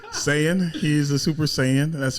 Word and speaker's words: Saiyan: Did I say it wrong? Saiyan.